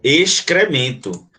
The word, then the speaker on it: excremento: Lembrando que esse XC aqui, ele não tem som de S, né? Você pronuncia o X e pronuncia o C. Excremento. Tá? Então você pronuncia, ó. Excremento. Então, esse XC aqui não é um dígrafo, não, porque o XC aqui não tem som só de uma letra, não. Tem dois sons.